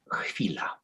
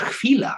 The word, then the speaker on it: chwila: But the Polish word for that is chwila.